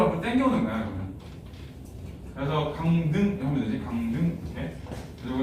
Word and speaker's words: 강릉: 그래서 강등 하면 되지. 강등. 이렇게. 그래서 이건 강등. 이렇게 발음하고.